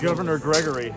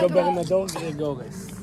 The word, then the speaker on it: Gobernador Gregores: Can you guys say the name of the town that we're in? You know how to say it. Governor Gregory. Governor Gregory? No. What is it? Gobernador Gregores. I can't say it and like not 2 sound G's, like right?